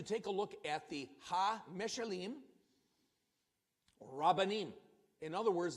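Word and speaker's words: meshalim: And what I'd like to do, I would like to take a look at the meshelleem, or rabbanim. In other words, the parables of the rabbis. So that is pronounced meshelleem, rabbanim, the parables of the rabbis.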